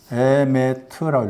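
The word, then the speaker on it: אֱמֶת: 히브리어로 에메트라고 그럽니다. 에메트라고 읽어요.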